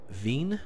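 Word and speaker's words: Wien: Veen? Is that Veen? I think W is pronounced V, isn't it? Around here.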